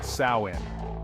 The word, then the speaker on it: Samhain: It started with the ancient Celts and their festival of Samhain, pronounced Samhain.